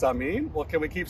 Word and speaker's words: Amin: well my last name is amine and you pronounce it i'm in it's a mean well can we keep saying i'm in for